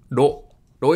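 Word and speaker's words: ろ: ロ、ロ is pronounced like a combination of ro in road and lo in load.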